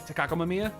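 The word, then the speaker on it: Takako Mamiya: nobody said it right nobody said it takakomamiya yes i am correct i did not need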